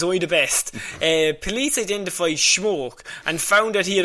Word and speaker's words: Schmoke: Schmoke. Schmoke, that's how we'd spell it and everything.